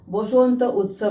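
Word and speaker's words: বসন্ত উৎসব: Notes refer कर लूँ, गलती नहीं होनी चाहिए प्रोनाउंसिएशन में। बंगाल, उड़ीसा, असम, बांग्लादेश में मैंने सुना है कि इसको बोसोंत उत्सव बोलते हैं।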